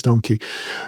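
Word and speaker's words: Dohmke: Um, you know, and if I mispronounced Thomas, it's Thomas Donkey, right? Or Dunc. Yeah, it's Donkey.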